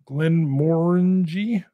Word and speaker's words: Glenmorangie: So it's spelled this way, Glenmorangie. Looks like orangey, Glenmorangie.